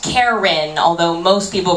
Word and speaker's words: Keren: spells her name k r n uh it's pronounced Karen although most people pronounce it Kurt meter's girlfriend